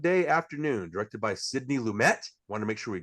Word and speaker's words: Lumet: talking about dog day afternoon directed by Sydney lumet want to make sure we got that right this time instead of mispronouncing like we did with our death trap